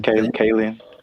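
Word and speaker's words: Kaling: know how to say her last name, Kayen.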